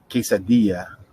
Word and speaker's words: quesadilla: gotta make sure you remember that quesadilla two l's make a y sound right quesadilla okay all